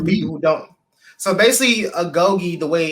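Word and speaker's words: agoge: you know for people who don't so basically agogi the way it's spelled is um AG g o g e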